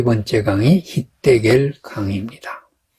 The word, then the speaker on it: 힛데겔: 셋째 강의 이름은 히데겔이라. 아수르 동쪽으로 흘렀으며 넷째 강은 유브라데더라. 에덴을 흐르는 강 중에 세 번째 강이 히데겔 강입니다. 히데겔은 티그리스의 히브리어 발음입니다.